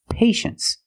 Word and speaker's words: patience: we pronounce it well you see t i e in the second syllable you know the t is pronounced sh so this word is patience that's right patience is